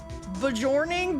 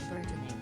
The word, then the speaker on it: burgeoning: Oh, burgeoning. Burgeoning. Burgoning. Not bjorning or whatever the came out of my mouth.